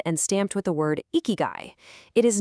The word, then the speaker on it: ikigai: First off, it's pronounced ikigai, and the true definition is astonishingly simple.